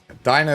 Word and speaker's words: Dina: Dina is a very good character. I was calling her Dena before, but after hearing her pronounce her name is Dina, I'm like, man, I'm a That makes sense.